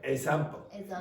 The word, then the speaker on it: example: Example. No, you did it again. Okay, so you took off this sound. Okay, you just went example. It's egg. Example.